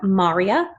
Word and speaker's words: maria: of the moon are Marya Highlands and craters now yes this looks like the name Maria but when our friends to the moon we call it Maria and here is a